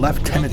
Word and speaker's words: lieutenant: Obviously, we pronounce it as lieutenant, kind of a hit in there a little bit, Liu, but lieutenant.